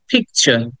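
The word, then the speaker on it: picture: কিছুক্ষণ আগে আমরা পড়েছি টি এর পরে যখন ইউ থাকে তখন সেটাকে আমরা চ এর মত উচ্চারণ করি আমরা কিন্তু ট উচ্চারণ করি না একই রকম এই কারণেই আমরা বলবো পিকচার পিকচার লাস্টের আর টাকে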